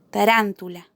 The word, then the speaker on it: tarántula: Por ejemplo, tarántula. Tarántula es una palabra que se acentúa en la antepenúltima sílaba, por lo que la consideramos una palabra esdrújula.